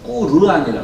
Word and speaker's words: 꾸르안: 그 번역된 꾸란, 코란이 아니라 꾸란이 정확한 꾸르안이라 그러더라고요. 정확한 그 원산지 발음은.